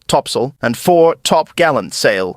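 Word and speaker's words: topsail: included the four course four Top Sail pronounced topsil and four top Gallant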